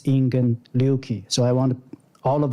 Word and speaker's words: Ingen Ryūki: and also he uh if we pronounce in japanese is ingen liuki so i want all